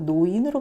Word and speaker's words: 노인: 마치 이렇게 발음하기 어려운 것처럼 로인이라고 발음되지 않고 노인으로 발음되는 것처럼 리을 초성 제약 때문에 리을이 니은으로 교체되는 현상이 있는 것 같다.